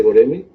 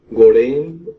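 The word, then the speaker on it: Göreme: Pues bueno, como ya comentaste, vamos a hablar del Valle de Goreme, o Gorén, o Guruen, también. Tiene unos, o sea, su pronunciación como es turco, Sí. de repente varía mucho, y bueno, tiene varias pronunciaciones ahí. Depende también de las, ahora sí, del país que lo visite, ¿no? O que lo pronuncie.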